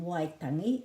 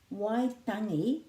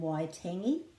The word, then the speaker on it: Waitangi: Waitangi is the pronunciation rather than Waitangi. Waitangi, and this is a flattish T, ta. Waitangi, Waitangi, and the emphasis is on the first syllable Y because it's a double vowel.